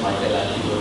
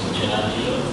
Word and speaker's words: Michelangelo: But the super renaissance in the 15th century started with people like Leonardo da Vinci, Michelangelo, pronounced as Michelangelo by the English, but his Latin or Italian name is Michelangelo.